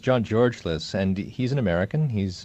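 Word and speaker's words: John Georgelas: Louis thank you who is John gorl Alice or Gore's of Corliss who was that yeah it's actually pronounced John George Liz and he's an American he's a countryman of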